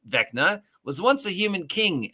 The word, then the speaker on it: Vecna: According to the Forgotten Realms Vecna, pronounced Vecna, was once a human king and lich from Orth who ascended to godhood.